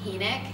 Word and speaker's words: Hynek: It's actually Hynek. It's spelled H-Y-N-E-K, and a lot of people say